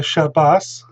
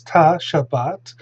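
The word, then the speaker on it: שבת: ashkenaz it's uh so a word like shabbat here uh vocalized according to the tribe to through the tiberian tradition uh the tet which is an unvoiced in uh in ashkenaz it's s uh so shabbas and in so far it's shabbat and uh a teacher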